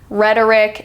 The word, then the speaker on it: rhetoric: as well we have the initial RH as in rhyme rhetoric and Rap City so the H is silent you don't need to sound out the H but it is in